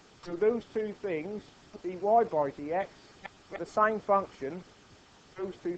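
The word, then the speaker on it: dy/dx: So that's how we would say that, we would pronounce that dy by dx.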